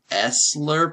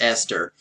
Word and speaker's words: Esther: I thought it's pronounced esler but it's really pronounced Esther I did not know the H was silent okay but anyway um